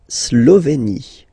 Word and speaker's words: Slovénie: La Slovénie. Remember, you get this E accent aigu here, it's E. Slovénie. Final E, as usual, not pronounced.